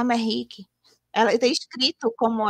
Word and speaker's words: Merrick: falava Merrick, e aí no meio do livro, a personagem explica que se fala Merrick.